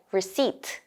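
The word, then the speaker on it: receipt: 는 영어로 어떻게 말할까요 영어로 영수증은 불씨 라고 합니다 스펠링 에는 피가 들어가 있지만 사실 입히는 묵음 이에요 그래서 불씨 라고 발음해야 한다는 거의 해주세요 뭐 그라하 합법을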